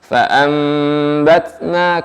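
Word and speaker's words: فأنبتنا: Fa'ambatna, kemudian ketika nun mati bertemu ba, ambatna, maka nun diganti dengan mim ya. Hanya saja pengucapannya tidak terlalu merekat di bibir ya. Ambatna jangan terlalu merapat dan keras ya. Fa'ambatna fiha habba.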